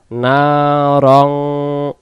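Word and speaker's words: نَارًا: ইয়া সদ জবর ইয়াস সাইয়াস সাইয়াসনা সাইয়াসলা সাইয়াসলা না রং রং হবে বাংলাতে র আর অনুস্কার মিলে যেমন হয় রং এরকম রং উচ্চারণ হবে নারং নার দুই জবরের বাম পাশে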